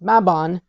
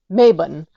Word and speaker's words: Mabon: tick tock during mabon and stated that it's pronounced mabon and not maben so I wanted to know is this a